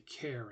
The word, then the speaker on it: char: lot of people say Char because that's what it looks like but it is actually an abbreviation for character so you might hear some people say care instead of uh Char